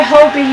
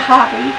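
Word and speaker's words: Hobbii: man pter Bell by Hobie yarn and I pronounce it Hobie and not hobby because Obie pronounces it Hobie and you watch G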